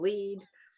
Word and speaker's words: Lead: a few miles away in lead uh spelled l-e-a-d i don't know why it's pronounced like that but um you know